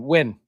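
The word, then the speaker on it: Nguyen: Now we have the Jason Todd run um with Dustin Yuen. Is that how you say it? Dustin Win.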